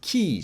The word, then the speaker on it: き: It's pronounced ki, just like in the word key.